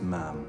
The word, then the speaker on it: ma'am: After that, it's ma'am. Rhymes with ham until you leave.